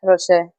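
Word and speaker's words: Roché: A-S-H-L-Y-N-N R-O-C-H-E. And a little accent on the E. Yeah. Is it Rocher? Yeah, Rocher.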